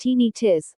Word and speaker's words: tinnitus: Tinnitus, pronounced tinnitus, or ringing in the ears, is the sensation of hearing ringing, buzzing, hissing, chirping, whistling, or other sounds.